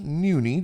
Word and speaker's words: Nuni: Now, today uh we're hanging out with uh Noonie. Did I pronounce that right?